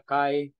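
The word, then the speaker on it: chi: saka he Okay pero I pronounce this as k k no so pagpronounce kayo ng he at nag-on kayo ng ke okay or ang iba tawag nila Kai so ah that's still correct Kai k he that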